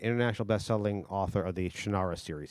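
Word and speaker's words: Shannara: bestelling author of the shanara series he pronounced it different he's wrong as chanara uh I go M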